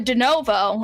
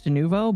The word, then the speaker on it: Denuvo: And also, the Enzoy makers um, got rid of Denovo or however the you pronounce it from their game as well after uh, player feedback. I think it's Denuvo, but you are also whatever.